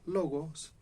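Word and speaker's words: λόγος: La palabra en griego se pronuncia logos, y a Jesús, Juan, en su primer evangelio, en el evangelio le llama, él es el logos de vida.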